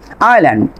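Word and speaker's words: island: এখানে খেয়াল করেন আইল্যান্ড, আমি কিন্তু আইসল্যান্ড বলিনি, কি বলছি আইল্যান্ড, আইল, আইল, তবে এখানে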